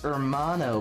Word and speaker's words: hermano: It's pronounced hermano, buddy. The H is silent.